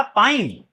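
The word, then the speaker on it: pine: पिन पी आई एन और इसमें ई जुड़ जाएगा तो हो जाएगा पाइन।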